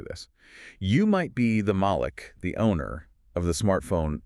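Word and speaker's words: ملك: So you have Malik with a long A sound, Right. and that means an owner. And then you have Malik with a short A sound, and that means a king.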